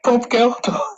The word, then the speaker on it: Bob Geldof: I've never heard it said like that in my life. Bob, and it sounds like you're trying to say Willem Dafoe. It's like, just say it like you do. Bob Geldof. Everyone knows Bob Geldof.